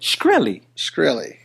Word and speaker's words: Shkreli: The move by how you say it? Shkreli. Sounds like a krill.